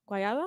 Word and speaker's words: guayaba: That's guayaba. Guayaba? Guayaba. What? That's how it's said.